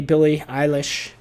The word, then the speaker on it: Billie Eilish: Go to see Billie Eilish, as her name is pronounced, as I've just learned.